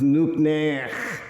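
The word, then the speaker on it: nuqneH: N-U-Q-N. Oh. This is Nukner. There we go. Means what do you want?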